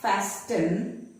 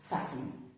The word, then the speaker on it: fasten: It is not fasten, but it is pronounced as fasten.